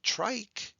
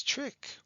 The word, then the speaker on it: trick: has a short eye it's not trich it's trick so we're going to